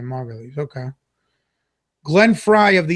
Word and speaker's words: Margulies: So I did pronounce it right then, Margulies.